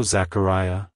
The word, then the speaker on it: Zachariah: from the Hebrew name Zechariah it's pronounced as Zachariah Zachariah Zachariah to pronounce it correctly emphasize the care syllable and make sure to distress the e sound at the end like hello Zachariah goodbye Zachariah if you found the video helpful